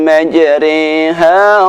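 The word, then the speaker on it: مَجْرٰىهَا: Nomor 3, imalah, yaitu membaca bacaan ra dibaca dengan bunyi re. Terdapat di surat Hud ayat 41, lafadznya berbunyi Bismillahi majriha wa mursaha.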